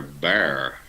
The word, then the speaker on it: Bexar: Jen is saying that they pronounced Bexar bear like the X is silent interesting why put it